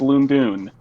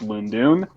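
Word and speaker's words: Lon'qu: actually the next one and yes apparently it's pronounced loom doon i wouldn't think it would be pronounced loondoon but it is because i guess pronunciation hates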